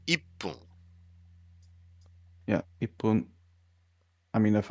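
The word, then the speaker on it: 一分: Like for me, it's ifun is difficult to say instead of saying ippun.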